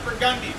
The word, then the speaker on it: Burgundy: level itself back out this street is spelled burgundy pronounced for gundy no reason what's ours how